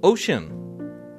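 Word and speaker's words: Ocyn: brand new musical venture called ocean now it's spelled o-c-y-n and he's releasing what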